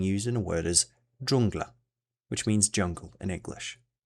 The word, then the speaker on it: dżungla: same as this, however it is quite similar to the J in jam, just pronounced harder. An example of this digraph being used in a word is dżungla, which means jungle in English.